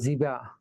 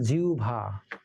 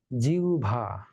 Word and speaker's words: জিহ্বা: যেমন কিছু কিছু শব্দ মজার আছে, ধরে যে আমার এটাকে আমরা বলি জিহ্বা বা জিবা, এর শুদ্ধ উচ্চারণ হলো জিহ্বা, জিহ্বা।